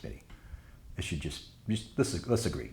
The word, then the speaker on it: MIDI: I have heard it pronounced M1D1 once in college at Texas Tech University. And also other people in Texas sometimes say MIDI as well, which is interesting. I think it's MIDI.